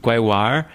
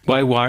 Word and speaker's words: GaiWaEr: So, uh, this track came from Guoir, um, a band from Chungdu, as Will was saying earlier. Guir is a pronunciation from the Sichuan dialect, but they sing in in Mandarin.